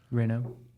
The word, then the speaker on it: Renault: I don't know how to pronounce it, but it's al seems like a French car. The Rena. Rena. Renault.